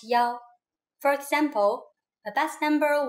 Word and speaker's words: 幺: When we talk about numbers like telephone numbers, bus numbers, and so on, we pronounce 1 as yao.